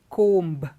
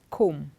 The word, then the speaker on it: comb: we don't say climb we don't say thump but this is what we hear a lot of people say but it's wrong when you pronounce these words the B is silent it is comb climb come the B